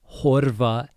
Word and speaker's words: horfa: að horfa á bíómyndir The most important thing with that one is the F in horfa sounds like a V. It's very voiced. So, að horfa á bíómyndir.